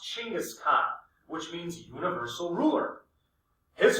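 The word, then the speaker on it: Chinggis Khan: assume the title of chingis Khan It's actually pronounced chingis Khan which means Universal ruler his father was murdered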